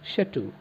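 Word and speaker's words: château: is drove onto his shattu remember c h a t a u that pronounced uh shattu this is the big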